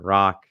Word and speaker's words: Rak: recorded welcome welcome welcome my name is Dr rock that is is pronounced r c and spelled r a i